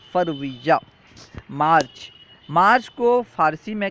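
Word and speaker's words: فوریه: زانویہ، جنوری، زانویہ۔ فروری، فروری کا فارسی تلفظ ہے فرویہ۔ مارچ، مارچ کو فارسی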